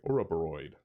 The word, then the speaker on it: Ouroboros: I pronounced it correctly. Ouroboros.